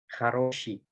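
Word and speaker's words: хороши: Lalu ini ada haroshi, sama kayak yang tadi, karena di sini huruf O-nya cuma satu, jadi huruf O yang di sini dibacanya seperti huruf A, haroshi.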